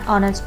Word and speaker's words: honest: Oh for example an honest person in it then this word edges salad and always a wall so we write and before it and our so these are the examples where H is silent and the sound of